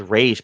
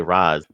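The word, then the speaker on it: Ra's: Because Shredder's Japanese, he says RA, but because everyone else is American, they say Raz.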